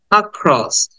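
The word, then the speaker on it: across: আমরা এটাকে অ্যাক্রস না বলে বলবো ক্রস আক্রস আক্রস জাস্ট শর্ট দেন খ এর উপর একটা স্ট্রেস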